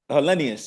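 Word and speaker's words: Helenius: Olenian? Yeah. Hellenius, yeah.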